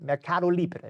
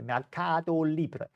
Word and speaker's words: Mercado Libre: Milai, Mercado Libre, Mercado Libre. I think that's how you have to say it, right? It's like a Cuba Libre. It's a Mercado Libre. You have to say it with that pronunciation. It's the only way.